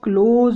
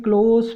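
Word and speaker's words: close: तो इसका जो बंद करने वाला प्रोनंसिएशन है गाइज, इसको आप क्लोज बोलते हैं, और जो नज़दीकी जैसे कि क्लोज फ्रेंड बोलते हैं आप, उसका प्रोनंसिएशन क्लोज होता है। तो स्पेलिंग तो सेम है, प्रोनंसिएशन थोड़ा सा चेंज है और मीनिंग भी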